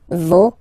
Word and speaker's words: vos: Okay, so remember, even if you get this final S, you don't pronounce it, as it was the case already for this word, no, you don't pronounce the final S, vos, you don't pronounce it, leur.